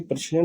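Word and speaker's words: प्रेक्षण: अगला क्वेश्चन है, आर्यभट्ट प्रक्षेण, इसको देखिए, ये प्रक्षेण होता है, ठीक है, प्रक्षेण। इसको बोलने में थोड़ा प्रोनाउंसिएशन में थोड़ा सा इसको गलती होती है, ठीक है।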